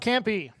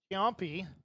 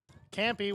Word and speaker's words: Ciampi: Bottom of the order, number 6, Mark Campy. Campy, we thought Banks' first game looks like it's pronounced Ciampi, the Italian CIAMPI, but been told that apparently the first I is silent.